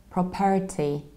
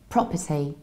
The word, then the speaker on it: property: see so what happens I stress the very first syllable its prob then I don't say pear even though there is a are it's not a long ere is it's very rigid syllable and then T pro per se property and when it